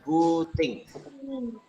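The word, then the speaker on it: booting: B O O T I N G, bacanya buting.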